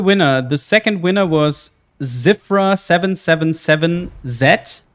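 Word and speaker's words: Zyvra: The second winner was Zifra 777Z, but Zifra is being spelled with a Z-Y-V-R-A. So it's Zifra 777Z.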